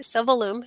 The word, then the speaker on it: Silvalume: So these are called a Silvalume. Mm-hmm. Am I saying it right? Silvalume. Yeah, like aluminum.